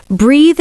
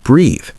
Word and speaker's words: breathe: Saying breath when you mean breathe. The e at the end lengthens the vowel. Remember breathe rhymes with see.